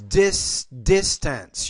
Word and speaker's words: distance: Again, the word is distance. You're not pronouncing that S in this word.